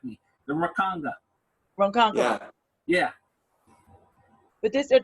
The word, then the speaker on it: Ronkonkoma: Ronkonkoma.